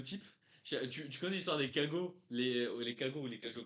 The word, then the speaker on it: cagots: tu connais l'histoire des cagots, les cagots ou les cajots, comment on prononce ça là? Cagots? Ça me dit un truc. Ah, ça me dit un truc. Cajots, non, normalement c'est les cajots.